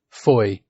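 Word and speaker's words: Fowey: it's spelled Foy but it is in fact pronounced Foy which is why he gave his fictional town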